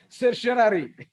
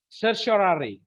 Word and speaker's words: certiorari: cryptoria, Not psoriasis, certiorari.